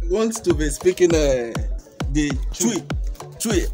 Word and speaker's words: Twi: to be speaking the chui. I called it chui. He said no, that I didn't pronounce it well. So here the way he's pronouncing it now.